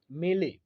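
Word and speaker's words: mêlée: सो बढ़ेंगे आगे, लेंगे हमारा अगला वोकैब, और हमारा अगला वोकैब है मेले। MELLE प्रोनाउंसिएशन होगा मेले।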